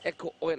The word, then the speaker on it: Eco-Oil: This is the match between the CEU Scorpions and the Eco Oil. That's how you pronounce it, Eco Oil.